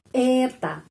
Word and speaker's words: это: Это penekanannya di sini ya, pada huruf E. Это. Karena itu O ini dibaca A.